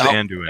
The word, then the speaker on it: Anduin: I still thought there was a. Oh, it is Anduin. And okay. it is I thought there was a hard E in it, but what do I know?